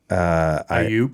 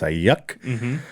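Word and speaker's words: Aiyuk: But speaking of Brendan Ayuk, which Steve Levy and the Monday Night Crew kept saying Ayuk. Ayuk, yeah. which is not how you say it. It's Ayuk.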